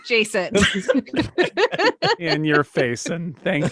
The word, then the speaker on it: Jason: His name rhymes with basin. It's Jason.